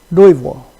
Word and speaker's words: Louisville: So there's some pronunciation like Louisville, okay, the basketball team, okay, university, that is pronounced like Louisville. There's no S. That's French pronunciation.